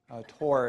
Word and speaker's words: Thore: Tor is actually his name. It's spelled Thore, but he's someone that many of us admire, and he's a friend to many of us as well.